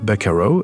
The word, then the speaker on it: buckaroo: de gens qui disent buckaroos, mais en réalité, non. C'est un mot qui se prononce buckaroo, où on retrouve bien les sonorités du mot originel vaquero.